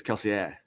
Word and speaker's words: Kelsier: way you'd say is Kelsey, you know, you do the the R with the A, you know, like the French pronunciation. French. Okay. Yeah. Which but the way it's pronounced reading it is Kelsier.